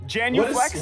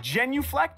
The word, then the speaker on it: genuflect: it Janu flex no that's a hard word Janu Flex does this mean what is that that's like flexing in January Janu Flex before you get into a pew at church oh my God genuflect am I saying it right okay so we